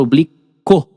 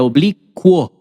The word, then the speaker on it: oblíquo: Só que nesse caso, moçada, você não, essa palavra não é pronunciada oblico, tá vendo? Não é oblico, é obliquo, quo. Então, o U tem som de U e o o tem som de o.